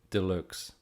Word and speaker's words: Deluxe: Deluxe. Deluxe. Like deluxe, but pronounced the German way.